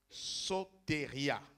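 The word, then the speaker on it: σωτηρία: contexte des ath 4,12 vient d'un mot grec soteria ça s'écrit ace au t et r i a sauté ria c'est mon veut dire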